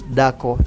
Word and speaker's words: dako: So what I get is that for a woman, the word woman in Luo of Kenya is dhako, D-H-A-K-O, while for Langi it's dako, D-A-K-O.